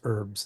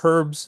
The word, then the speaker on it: herbs: So we Americans keep the h silent while a lot of other uh when I was teaching in Australia, they always used to make fun of me when I'd pronounce herbs.